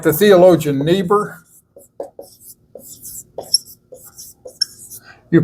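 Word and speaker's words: Niebuhr: remember in the German when you got a double vowel you pronounce the second one like the Theologian neber you pronounce it not naber you pronounce it neber and so n not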